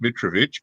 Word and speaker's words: Mitrovic: my name's Petrovic if you want to use the ethnic pronunciation it's mid trovich but most people can't